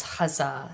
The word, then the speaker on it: Gaza: a clarification uh the the word gaza she pronounces when she reads this poem uh as huzzah so i'll be pronouncing it that way as well and it's called dear